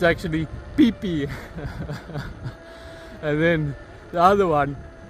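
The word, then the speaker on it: Phi Phi: or Satan, but it's pronounced Satun. And then the other places like uh where we would read it as Fifi, it's actually pee pee.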